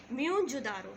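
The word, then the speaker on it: Mohenjo-daro: तो मैंने आपको पहले बताया मोहनजोदारो का मतलब होता है माउंट ऑफ डेड, और इसकी सही प्रोनाउंसिएशन है म्योनजोदारो.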